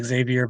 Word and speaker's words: Xavier: I don't know how the Luxembourgians pronounce it, but I will say Xavier Bettel.